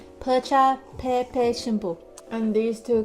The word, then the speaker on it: bhocha: What is tea? Cha. What is Tibetan? Tibetan. Pe. Right. Combine those two now? Chapa. Bhocha. Yeah. Bhocha. Bhocha, pepe, shimpu.